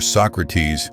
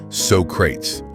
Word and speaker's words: Socrates: Tony Steedman, born in 1927, played the great philosopher Socrates, or as Bill and Ted famously mispronounced it, Socrates.